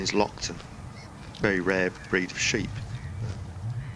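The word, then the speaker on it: Loaghtan: a G hton but apparently the the proper pronunciation is Lockton very rare breed of sheep the ram here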